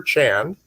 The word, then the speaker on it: Chand: And we have a terrific guest that Ian and Helena have found for us, Peter Chan from Barking and Dagenham. Did I pronounce that correctly, Peter?